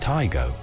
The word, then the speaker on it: Taigo: it was first launched taigo is pronounced taigo there's nothing too surprising